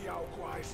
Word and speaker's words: Yaoguais: Except to enshrine it up there, tricking lesser Yaoguais into offering. Oh, that's how you pronounce it.